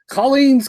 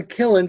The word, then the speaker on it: Killen: air, and they said, Colleen's Comic in Springfield. Huh? Apparently Killen, Killen, is the most difficult name to pronounce. It came out once as Colleen, one as Colleen, and they call it comic.